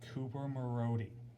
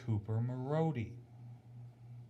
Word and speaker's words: Cooper Marody: Now, for those of you that watched the game on AHL TV, I'm going to pronounce the names correctly for you. It's Kyler Yamamoto from Sam Gagne and Cooper Marody.